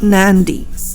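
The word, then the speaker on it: Nadi: like for example of Nandi the spelling is nad I but when he we say it we say Nandi with n sound added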